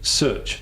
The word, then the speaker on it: Szőcs: the engaging marketeer I am joined by search did I pronounce that correctly yes that's correct fantastic uh